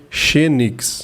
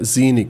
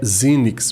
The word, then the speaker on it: Xenyx: for ler tentar né ler o fonema em português aqui ao pé da letra parece ser Fênix né mas a pronúncia correta seria Zini tá até nos próprios vídeos né que de tenda Behringer pode dar uma olhadinha lá a pronúncia dessa série desses mixeres da Behringer é zinnyx beleza muito bem como